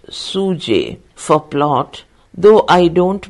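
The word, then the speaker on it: sjuzhet: and Suzette SJ u z h e t pronounced suj for plot though I don't myself see any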